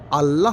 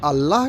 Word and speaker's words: अल्लाह: इसको हम लोग ऑल कहते हैं और ऑल उच्चारण गलत है। वास्तव में ए डबल एल का उच्चारण जो है अल होता है।